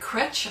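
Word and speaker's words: Krech: This quote is from Greg Kretsch. I believe that's how you pronounce it. It's K-R-E-C-H.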